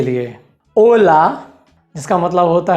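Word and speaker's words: hola: इसका ये मतलब है कि कोई भी शब्द अगर आचे से शुरू होता है तो हम वहाँ पर आचे का उच्चारण नहीं करेंगे। उदाहरण के लिए ओला, जिसका मतलब होता है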